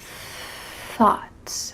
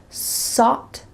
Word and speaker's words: thought: and a TH sound, sought instead of thought. And in some situations, this could be a little bit difficult for other English speakers to understand you, so make sure that you say this correctly.